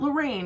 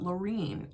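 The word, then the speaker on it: Laurine: Not Lorraine, because I had a great aunt Lorraine, but Lorene, L-A-U-R-I-N-E.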